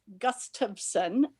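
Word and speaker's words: Gustafson: everybody your last name it is gus tubsen and it's uh it's like gust of wind and i think if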